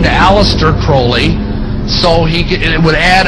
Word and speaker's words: Crowley: likes to bring have his name pronounced crowley to rhyme with holy and the satanist today